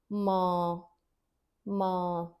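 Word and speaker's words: माँ: Ma it's not without the nasal N. It's very important here. It's not ma. Whereas it is the right pronunciation is ma ma. Notice the nasal sound coming up.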